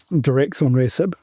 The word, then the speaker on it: Daratumumab: Daratumumab Yep, there's actually I think this study